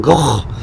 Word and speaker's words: Gogh: painting by Vincent van Gogh. I have to say that because Billy's sitting over there and he'll shoot me if I don't pronounce Gogh. Like you've got something stuck in your throat.